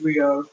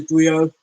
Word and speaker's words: griot: I believe you pronounce it Griot, even though it's spelled Griot.